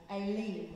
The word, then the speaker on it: Elim: in this hour, they arrive at Elim, or Elim, if you're pronouncing it the Hebrew way, but I'll stick to Elim because it's what we know.